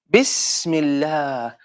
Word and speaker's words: Bismillah: Bismillah. As you can hear, seen is silent here. So it's not sa, it's not si, it's not su, it's s. That's why we add a sukun.